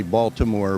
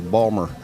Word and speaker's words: Baltimore: you told me um how do you say Baltimore oh well normally it's everybody with any education probably going to say Baltimore but it's Ballmer Ballmer Marilyn bummer Ballmer Maryland pawn